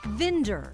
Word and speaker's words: Vinder: It's called Vinder, rhymes with Tinder, and it hooks people up with fresh veggies.